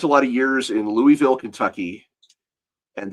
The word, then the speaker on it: Louisville: in Louisville, Kentucky, and the different ways people pronounce that name, even within the city, can be really fascinating. If you're a tourist, you call it Louisville. If you're a local, you probably call it Louisville.